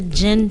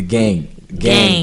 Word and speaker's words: Geng: So yes, let's get into the gin challenge, because I didn't know what that was. What is the gin challenge? Am I saying it right? The what? It's GENG. Okay, the gang challenge.